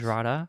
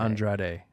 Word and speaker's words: Andrade: Andrada or Andrade? Andrade. I'm going to say his name wrong.